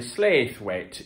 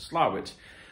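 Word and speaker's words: Slaithwaite: west yorkshire not far from a town called slowit if you saw it on the map you might say slave weight if you didn't know uh different but apparently it is pronounced slavic which is used to me as a reader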